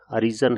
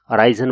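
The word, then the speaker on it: arisen: जैसे ये word mostly students इसको अराइजन बोलते हैं, ये जबकि अरीजन वर्ड है।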